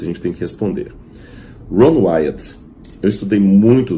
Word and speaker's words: Ron Wyatt: Aliás, até interessante, uma curiosidade para os adventistas, o nome dele era Ron Wyatt. Ron Wyatt. Mas pela má pronúncia em português, alguns confundiram como Ron White.